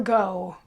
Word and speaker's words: Gough: say vincent van gogh the name is probably pronounced like goff or something like that and not go but anyway this particular